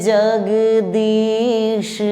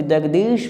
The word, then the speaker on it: जगदीश: ये 100% गलत है, क्योंकि जगदीश में तालब श होता है और तालब श का उच्चारण तालु से किया जाता है। जब तक आपका जुबान तालु में टच नहीं करेगा, तालब श का निर्माण नहीं हो सकता है।